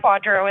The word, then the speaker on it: QDRO: can use what's called a qdro we pronounce quadro in the field that allows you to